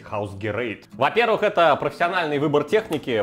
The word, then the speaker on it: Hausgerät: Но на самом деле это немецкое название, и правильно говорить Hausgerät.